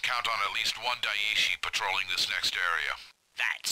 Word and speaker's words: Daishi: Alright, so it's pronounced Daishi. I like Dashi better.